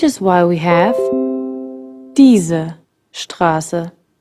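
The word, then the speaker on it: Straße: why we have teaser Strasse right something we haven't pointed out yet when placed before a P or T s is pronounced the Strasse the spicy Carter can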